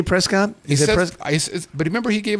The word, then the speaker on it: Prescott: can we not say Prescott pres but remember he gave us crap about that last time he said yeah he said what they pronounce it here is Prescot and I want to say Prescott yeah hey Scott I